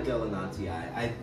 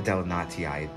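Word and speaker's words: delenatii: Because I do like my Delanatii. It's one of the coolest sounding paths anyway. And I know some people pronounce it Delanati, but I do like the Delanatii. It has two eyes at the end.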